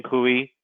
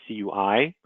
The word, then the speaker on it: CUI: that i'm i'm sorry i keep saying kui it really that is not the right way to say it it is cui so do as i